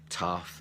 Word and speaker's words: tough: Okay, so I have the sound uff, so this includes enough, tough, and rough.